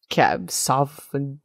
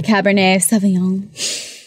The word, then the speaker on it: Cabernet Sauvignon: of wood bridge cabernet's cab sof you know the cap the cabernet sauvignon sure yes excellent good job that one the red one i was mispronouncing it so that you